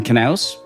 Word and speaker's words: Knaus: Thank you, Dustin Knaus, for insisting that we pronounce the K.